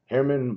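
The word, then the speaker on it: Germán: guys we have a Herman Marquez says German but I don't think that's how they pronounce it so Herman Marquez and it's a rookie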